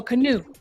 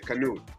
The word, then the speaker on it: Canute: can you tell Canute is the T pronounced or is it not it's not so canoe yeah like we're in the water going you know paddling to canoe ah okay canoe yeah yeah got it